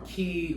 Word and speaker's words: Quay: item are these high key gold aviators from key or quay i'm pretty sure i've heard them say it's pronounced key but these retail for 75